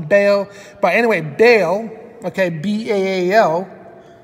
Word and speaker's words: Bale: his last name is Bale. Now, anybody, and I know this is spelled different. Now, Bale, which is also pronounced Bale, Christian Bale or Bal. Some people call him Bal, but it's Christian Bale.